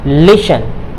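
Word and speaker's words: listen: क्या है, टेन है, तो इसमें जो है ये टी जो है आपका ये साइलेंट रहेगा, तो क्या हो जाएगा लिशन, लिशन क्या हो जाएगा लिशन, लिशन मतलब ध्यान से सुनना।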